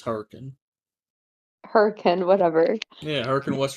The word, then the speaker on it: Hurricane: What would somebody from Huracan sound like? Is that how you pronounce it? It's Hurricane.